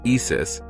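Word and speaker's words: IS☉IS: ISIS, Integrated Science Investigation of the Sun, pronounced ISIS, is designed to measure high-energy particles that are sped up in the sun's atmosphere.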